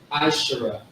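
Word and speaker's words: עשרה: But this right here is actually this is how you say 10 in Hebrew. Ashara.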